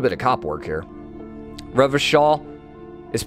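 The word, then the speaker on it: Revachol: Revishaw is pronounced Oranya. Revicall is Revishaw. Oh, it's Revishaw. Okay, gotcha. So not Revicall, Revishaw.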